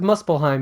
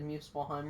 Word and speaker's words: Muspelheim: I think you said Muspelheim wrong. You said Muspelheim or something. How is it pronounced? Muspelheim? Yeah, Muspelheim. I thought it was Muspelheim. I think it's Muspelheim.